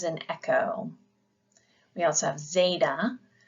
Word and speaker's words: zeta: echo we also have Zeta which gives a little D sound there is a buzz about that and you pronounce it like you would in kadu so say Zeta next is Ada this